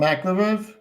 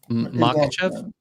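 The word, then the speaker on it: Makhachev: Islam Makov. Probably butchered it. Makachev.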